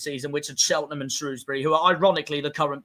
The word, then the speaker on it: Shrewsbury: Shrewsbury. posh people would pronounce that Shrosbury. They don't have any idea what they're talking about. They're full of wank.